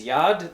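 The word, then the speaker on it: יד: come back to that this is Yad it's a yodh with the comments ending with a ballot this is the word for hand then the next one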